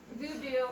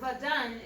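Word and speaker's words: Vodun: Like that, as Christianity is the big one in the United States, voodoo or vadun is really how it's pronounced.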